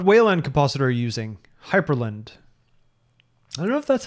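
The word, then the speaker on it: Hyprland: Hyperland. I don't know if that's how you pronounce it. Hyperland? It's Hyperland. There's no E, and it's very frustrating because the command for configuring Hyperland is Hyperctl, like hyper control.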